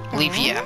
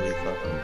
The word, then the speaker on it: Leafa: Leafia. Yeah, isn't that his sister? No, I'm just kidding. It's actually his cousin. And actually, it's pronounced Leafa.